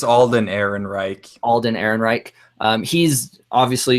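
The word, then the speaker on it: Alden Ehrenreich: want to see this was because I can't pronounce his name Alden it's Alden Aaron Reich Alden Aaron Reich he's obviously you know he's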